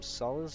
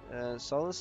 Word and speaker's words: Sulis: Sulis, I think it is. That's how you pronounce it. S-U-L-I-S.